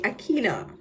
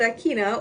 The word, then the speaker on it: Akenna: So my name is actually it's spelled Akenna, but I grew up my entire life with people calling me Akina. So if I'm called Akina, or if you hear me saying Akina, it's fine because I grew up calling people family.